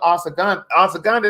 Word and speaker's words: ashwagandha: That's what ashwagandha. That's how you pronounce it.